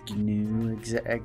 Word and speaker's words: gnu: The word's pronounced GNU, actually.